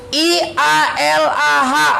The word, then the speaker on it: ialah: I-A-L-A-H. Bacanya apa? I-A-L-A-H. Kenapa nggak kita bunyikan ialah? Padahal nggak ada y-nya di situ. Kenapa? Karena ada bunyi yang tidak sesuai dengan tulisan.